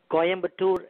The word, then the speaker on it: Coimbatore: Coimbatore? Coimbatore Institute of Technology.